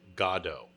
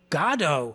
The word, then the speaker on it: Godot: Well, just so you know, to use your state of mind, the proper pronunciation is Godot. Goddo. Believe So it or it sounds not, like God.